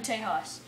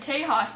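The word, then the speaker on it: Tejas: This is my first time in Tehas. He's like, now, we don't pronounce the H in Tehas.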